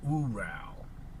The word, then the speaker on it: Ural: People pronounce it Ural, but the Russians pronounce it Ural.